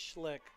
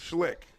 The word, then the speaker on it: Schlick: It's Schlick, It's Schlick. like the beer. Not really, but Schlick.